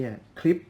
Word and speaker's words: Klipsch: คุ้น ตา กัน ดี คือ คลิป ใช่ แล้ว อ่าน ว่า คลิป นะ ครับ ของ แบรนด์ ดัง